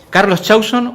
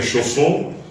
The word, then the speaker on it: Chausson: He escuchado de todo, pero en Francia lo pronuncian correctamente porque es un nombre francés, una palabra francesa.